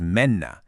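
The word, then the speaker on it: mennä: The verb for to go in Finnish is menna. And it's pronounced pretty much just how it looks.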